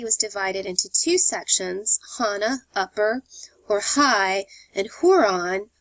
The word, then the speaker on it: Hanan: power the city was divided into two sections Hana upper or high and hon lower um Hanan is spelled h a n a n and Huron